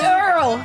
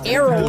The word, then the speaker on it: Errol: It's Earl. If that's how you even say his name, or Errol. no. It's Errol.